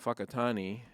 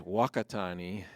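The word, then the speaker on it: Whakatane: from 91 to 92, small town called Fakatani. And no, that's not a cuss word. That's how you say it. That's exactly how you say it. Yeah. First time I heard that I said, "Say what, guys?" He said, "No, it's a real town." the the anglicized name is Wakatani, but uh you know,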